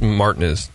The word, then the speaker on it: Martinez: Street in Martinez Martin that's right it's it's pronounced Martinez Martinez Martinez next to the lovely Creek monkey